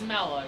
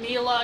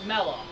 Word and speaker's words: Mela: name is Mela I'm sorry the name is mellow we call him Mila you're incorrect it's mellow just because there's no Double L just because